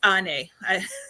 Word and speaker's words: Ane: Sorry, and it's Ane. I promised her I would pronounce it correctly the second time I said it, but yeah.